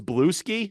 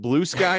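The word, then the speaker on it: Bluesky: You're on Blue Sky? Yep. Can I be honest with you? Been pretty active over there. I thought it was Blue Ski, not Blue Sky at I first.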